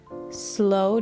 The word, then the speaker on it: sloe: It's called slow down. I'm assuming that's how it's pronounced. S L O E.